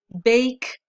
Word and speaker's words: bake: Bake, date, and I always tell them, look, you don't pronounce the E, but you make this vowel the long vowel.